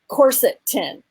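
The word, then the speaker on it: quercetin: time pronouncing it so they just said just say corset tin coratin so I'm like oh I can say the word corset yeah that yeah I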